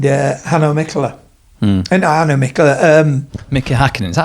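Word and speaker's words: Mika Häkkinen: Mickey Hakkinen, is that how you say it? Yeah, it is. It's Mickey Hakkinen.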